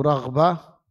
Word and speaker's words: raghbah: Ingat, membacanya raghbah bil ghain, pakai ghain, raghbah.